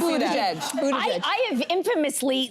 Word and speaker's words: Buttigieg: How do you say that name? Buttigieg. Oh, you knew it too. Yeah. But first time before you ever I was like, I was afraid. I saw butt. Okay. I did see butt. It is Buttigieg.